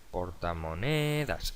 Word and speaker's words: portamonedas: Portamonedas, ¿dónde cae el golpe de voz? Portamonedas, es llana, acaba en S, no lleva tilde.